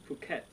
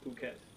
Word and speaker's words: Phuket: this beer is a Phuket beer phuket yeah it do not pronounce it the way americans would pronounce it because it would say